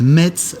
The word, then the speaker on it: Metz: 13ème 14ème siècle ensuite Metz Metz au 16ème siècle alors donc si le mot Metz a toujours eu un t on peut dire qu'on ne le prononce plus depuis le 16ème siècle avis au commentateurs sportifs